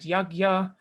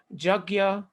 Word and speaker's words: yajna: different uh teachings and depending on what your mother tongue is you will pronounce sanskrit differently even people in india